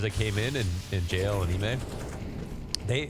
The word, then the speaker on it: iM: Okay, so Ime told us that you pronounce it Ime. And I think before he told you Imma.